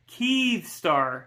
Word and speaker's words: Kyivstar: It's not Kiev. It's Kyivstar. Excuse me.